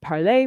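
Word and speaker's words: Parler: it should be pronounced parley which is the pred the french pronunciation because it comes from the french verb to talk um or to speak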